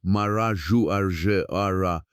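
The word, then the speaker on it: Marajoara: Here from around the year 400 to the year 1300 after Christ flourished the Marajouara culture pronounced Maraju Aar studied in depth by the archaeologist Anna Roosevelt.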